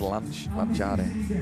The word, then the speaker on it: lanciare: In Spanish, or in Italian it's lanciare.